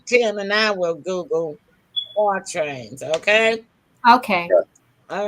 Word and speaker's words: quatrain: It's spelled QUATRAINS, just like trains.